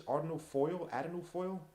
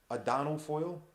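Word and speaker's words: Adonal Foyle: Ardino, whatever his name is, Ardino Foyle. Adano. I'm sorry, I say his name wrong. Adano Foyle.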